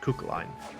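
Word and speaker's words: Cú Chulainn: And it's pronounced Cuchulainn.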